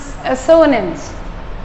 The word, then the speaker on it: assonance: So that is assonance. It's not nance, it's assonance. It's pronounced as assonance.